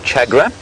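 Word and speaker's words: tchagra: I'll play you the call of the chagra. Chagra is spelt T-C-H.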